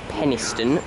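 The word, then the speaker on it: Penistone: for for pacer from Sheffield via Penniston that's pronounced Penniston by the way one for 401 saturate three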